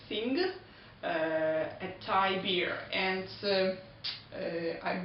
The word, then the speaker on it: Singha: One more interesting thing is that if you see the name you would probably want to read it Singha, but it's actually wrong and you should pronounce it Singha.